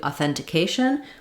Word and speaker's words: authentication: the word the same still stressing and stretching on the second syllable that sounds like authenticate authenticate authenticate then when we get to authentication we actually have the same sounds all the way through uh for the first syllables but now instead of stressing on thin and holding it longer it's going to go by quickly authentication authentication again you can start